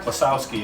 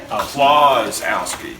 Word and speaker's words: Klisowski: When I moved to town, I was told I had been saying it wrong my entire life. It's not Klisowski, it's Klazowski.